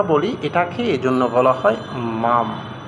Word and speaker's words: Maugham: যেমন high high এটার মধ্যে কিন্তু জিএইচ এর উচ্চারণটা হয় নাই। তাহলে এভাবেই যদি আমরা বলি এটাকে এজন্য বলা হয় মাম।